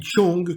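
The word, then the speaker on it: 重: La partie de gauche se dit chong quand elle est isolée et elle désigne ce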